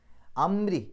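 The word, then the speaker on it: أَمْرِ: എന്നുള്ള ശബ്ദം പുറത്തേക്ക് കേൾക്കണം അംരി റാിന് കസ്ർ റാിന് കസ്ർ വരുമ്പോൾ ഇരി എന്നുള്ള ഉച്ചാരണം കൊടുക്കണം ഈ ഒരു മൂന്ന് ആയത്തുകളിൽ നമ്മൾ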